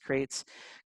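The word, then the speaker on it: Qrates: it at the bottom q-r-a-t-e-t-e-s it's pronounced crates crates allows you to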